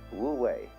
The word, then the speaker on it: wu wei: It's called in Chinese Wu Wei. Wu, non-wei, striving. In Japanese, Mui. I is Japanese of pronouncing the Chinese way.